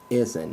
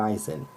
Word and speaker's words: Izien: Izien, not Eisen.